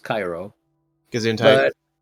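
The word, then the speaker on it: Chi Rho: It's pronounced Cairo.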